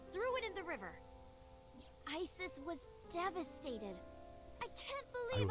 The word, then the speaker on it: Isis: horace's mom is named isis but in ancient egyptian it's pronounced closer to isa or asa oh huh well that's